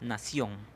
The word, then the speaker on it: nación: Y O es la que lleva la mayor fuerza de voz.